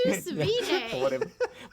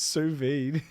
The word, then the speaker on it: sous vide: What's sous vide? How's it pronounced? Sous vide.